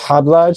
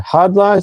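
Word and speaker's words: Khadlaj: It's pronounced Hod Lodge to the K silent, but this is Hod Lodge and then the fragrance name is island.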